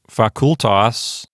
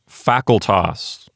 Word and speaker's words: facultas: Let's go down to facultas. Now, I'm tempted to pronounce this one as facultas because it reminds me of the English word faculty.